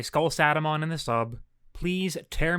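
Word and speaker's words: SkullSatamon: Skull Sadamon is the same, but it's pronounced like a SATA cable, not SATA like Satan.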